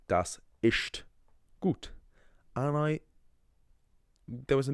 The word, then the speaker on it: ist: I remember in first year of college, there was a guy who pronounced the German. So the German word for is ist, right?